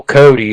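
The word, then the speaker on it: Kodi: the istick to put what they call Cody and it's spelled kod I on there you can modify that fire stick but Cody on there and you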